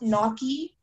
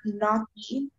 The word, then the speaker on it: gnocchi: It's pronounced knocky or knocky.